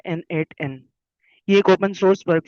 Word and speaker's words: n8n: तो सबसे पहले यह प्रोनाउंस किया जाता है एन एट एन।